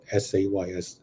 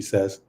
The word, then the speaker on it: says: SAYS. I think it will be he says, she says, not he says, she says.